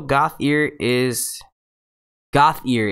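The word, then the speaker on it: Gauthier: Also, Goth ear is how you say my last name.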